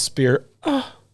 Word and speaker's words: Spira: city in the end that's pronounced spear s-p-i-r-r-a spira is another city